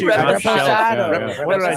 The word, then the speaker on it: reposado: Reposado.